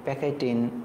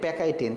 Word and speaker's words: pachytene: PACHYTENE, এটা হচ্ছে আসল উচ্চারণ, মানে বাংলায় আসল স্পেলিং, ইংরেজিতে আসল স্পেলিং। PACHY, প্যাকাইটিএনই, প্যাকাইটিন। ওকে, দেখে আমাকে কি আনসার দেয় এটা সবার আগে।